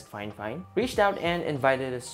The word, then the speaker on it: FIFINE: for all things Tech so fine fine yes that is pronounced as fine fine reached out and invited